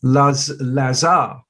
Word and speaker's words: Lazare: We have got a delightful guest genie today, Sydney Lazare. Yes, rhymes with star, I remembered.